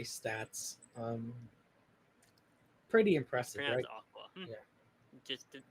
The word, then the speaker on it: Akua: Um, so we obviously heard about Aquay stats. Um, pretty impressive. Aqua. Yeah, just just to be sure it's pronounced Aqua. Huh? It's pronounced Aqua like the word for water. Aqua.